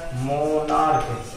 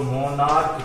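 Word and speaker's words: monarch: इसमें भी देखिए लास्ट में CH है, CH का उच्चारण यहाँ पर क्या है, क है, मोनार्क, इसको मोनार्क कहते हैं।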